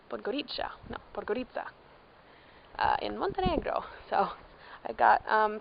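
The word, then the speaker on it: Podgorica: I've been saying it wrong but goodie ciao plugger Itza in Montenegro so I got picked up by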